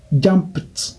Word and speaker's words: jumped: Jump est terminé par P, qui est voiceless, alors ça fait jumped.